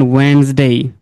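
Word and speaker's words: Wednesday: ওকে, এই যে মনে করেন ওয়েন্সডে, তাই না? এই যে এখানে ডি এর প্রোনাউন্স হয় না, এগুলো এখানের মধ্যে আছে।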